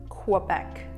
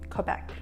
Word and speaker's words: Quebec: The first version is... Quebec (QUO-BEC) with a slight "u" sound The second version is... Quebec (KO-BEC) They do sound very similar Apparently, French speakers in Quebec pronounce it differently It goes something like... Quebec (KAY-BEC) You probably don't want